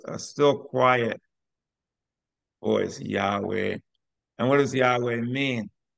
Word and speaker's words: Yahweh: is interesting thing about Yahweh is that it's all vowels in English it sounds like a V sounds like a but in Hebrew the V is pronounced kind of like a w UD hey W hey